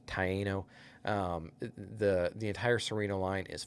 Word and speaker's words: Taino: Yes, it's pronounced Taino.